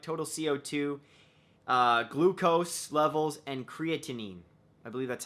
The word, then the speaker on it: creatinine: They measured sodium, potassium, chloride, total CO2, glucose levels, and creatinine.